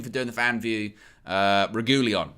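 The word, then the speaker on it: Reguilón: Big up to Sergio Reguilon for doing a fan view of United View after the game.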